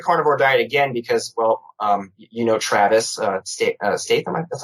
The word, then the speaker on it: Statham: I tried the carnivore diet again because, Travis Statham. That's how you pronounce his last.